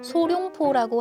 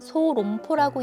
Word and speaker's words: 소롱포: 간혹 이소룡을 생각하고 소룡포라고 하시는 분도 있지만 정확히는 소롱포라고 읽는 게 맞습니다. 오리지널 샤오롱바오의 만두소로는 주로 다진